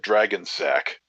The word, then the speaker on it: Dragonsac: Actually my new my new name is Dragon Sack. What? Yeah. Dragging or dragon? Dragon. DRAGONSAC. But it's pronounced, dude, like dragon, like it's dragging on the ground.